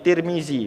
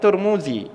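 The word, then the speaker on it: الترمذي: imamu di juga boleh Sama juga seperti Tirmidzi boleh bacaannya Hai atau ada orang yang baca juga turmudzi juga bener atau juga ada orang yang bacanya Tarmizi ya juga benar tiga-tiganya bener eh orang Arab itu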